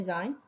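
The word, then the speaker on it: zijn: Nah ini dia satu Zain ini bacanya jayne Yang satu lagi hebat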